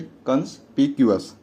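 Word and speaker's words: conspicuous: है इसका उच्चारण सही कंस प क्यूस कंपस का मतलब होता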